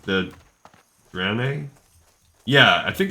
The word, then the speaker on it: Draenei: Whatever it is will grow on me, just like the Draenei. Yeah, I think it's Draenei, right? The Draenei. But I think I used to pronounce it Draenei.